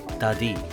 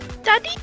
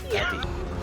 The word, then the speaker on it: Dadi: They pronounce her name in the appropriate lizard tongue is Dadi. Daddy? Dadi.